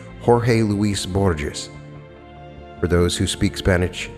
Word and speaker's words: Jorge Luis Borges: If I pronounce the Spanish correctly, it's Jorge Luis Borges.